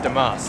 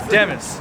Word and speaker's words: Demis: by this guy called Demis. Demis. I was used to pronounce it Demas, but Demis.